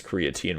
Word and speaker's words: creatine: I think you were mentioning about is it creatine? How do you pronounce it?